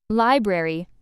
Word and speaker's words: library: Library, stress on first syllable, don't miss the r in spelling.